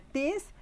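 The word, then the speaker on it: τίς: un círculo, es que siempre tiene acento sobre la iota. Este interrogativo siempre estará acentuado en la raíz, en la primera sílaba, en la iota. ¿Sí? O sea, vamos a tener tis, tinos, tini, tina.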